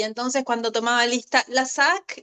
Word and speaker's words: Lassaque: ¿Por qué si no como en Paula, porque en realidad mi apellido es vasco francés y en el francés la e no se pronuncia y también me pasó